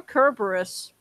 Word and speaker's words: Cerberus: How about the dog Cerberus? Or Kerberos, Oh yeah, however you the like to pronounce it.